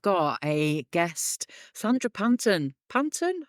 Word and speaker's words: Panton: Panton? How do you pronounce that? Panton, you had it right.